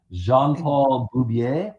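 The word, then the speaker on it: Jean-Paul Beaubier: So, John Burn also created the first gay superhero, the first gay male superhero, which is uh Jean Paul Bubier, I believe is the correct pronunciation of the character's name.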